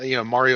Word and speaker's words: Mario: Is it pronounced Mario or Mario? Freaking Canadians. Mario. It's Mario.